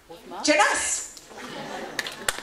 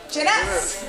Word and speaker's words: Jeunesse: Jeunesse. So we have to read that again, right? And what rhymes with yes? Jeunesse.